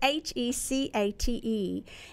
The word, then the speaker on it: Hecate: And so when I referred to, and I've been told how to pronounce this because it reminds me of Princess Bride, Hecate. Hecate or something like that. I always make fun of it, but it's Hecate, and she's the triple